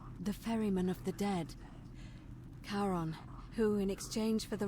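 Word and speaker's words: Charon: it's just as you described it only your pronunciation is a little off the name you heard wasn't it was c-h-a-r-o-n as in caron the ferryman of the dead karon who in exchange for the right coin helps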